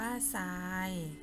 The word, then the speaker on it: ทราย: แทรก อ่าน ว่า แซ่ป ทราย อ่าน ว่า ทราย size อ่าน ว่า ไซ